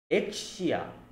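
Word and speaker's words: Exusiai: penguin logistic girls X's I always forget the pronunciation of her name XI no X exia exia okay exia and all the other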